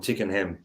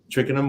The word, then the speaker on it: Twickenham: when they went away from Tickenham, is it how you pronounce it? Twickenham.